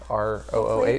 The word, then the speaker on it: Rooh: What I've read about the Roo place, if that's how you pronounce it, ROOH.